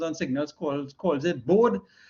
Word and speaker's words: Bode: signals calls calls it bode right i'm not too sure how henry himself pronounced it he was um the name is dutch so i think it's bodhi i believe i've heard somewhere